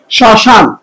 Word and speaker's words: শ্মশান: এবার আসুন যে প্রথম যে তারপর দ্বিতীয় যে নিয়মটা আছে শ্মশান। দেখেন এখানে শব্দের শুরুতে মফলা আছে না, এই একটা জিনিস মনে রাখবেন, শব্দের শুরুতে মফলা থাকলে তার উচ্চারণ হয় না, কিন্তু কি করবে, ধ্বনিতে নাসিক্য করবে, ধ্বনিতে নাসিক্য করবে।